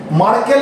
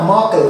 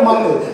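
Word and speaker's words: Merkel: এই মাকল সেলস এর সঙ্গে কিসের সম্পর্ক রয়েছে মার্কেল না মাকল উচ্চারণ হবে মাকল স্পেলিংটা হচ্ছে এম ই আর কে ই এল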